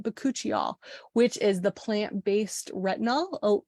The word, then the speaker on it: Bakuchiol: And then the Farm RX Bakuchiol, that's how you say it, Bakuchiol, which is the plant-based retinol, alternative to retinol.